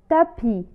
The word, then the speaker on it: tapis: مثال: tapis. tapis لا تنطق حرف S في كلمة tapis.